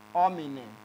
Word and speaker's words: omine: And if you want to talk about the plural form, you have omine, as in O, M, I with the dot, N, E. If you are pronouncing this, it is inscribed as O, R, O.